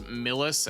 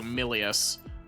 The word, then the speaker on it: Millius: I think I've been pronouncing that as Milis and its M I L I. So Millius, known as the tethered steeple.